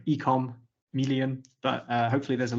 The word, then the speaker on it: eCommeleon: It's uh the Chameleon for e-commerce. So, ecom million, but uh hopefully there's a link in the comment in the description.